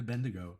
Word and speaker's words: Bendigo: You told me to come to Bendigo and I'm coming to Bendigo, right? Am I saying that? Am I saying it correctly?